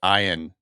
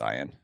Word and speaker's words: Ian: Ian Ziering's name is pronounced Ian. And it was like I remember this being like a thing back in the day. He had to correct everybody who ever talked to him. Actually, it's Ian.